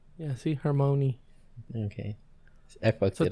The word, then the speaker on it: Hermione: Hermione? You got it. Oh, no. I was about to say Emma Watson. Okay. Let's see. Did I say her name right? I've never been able to. Hermione. Hermione.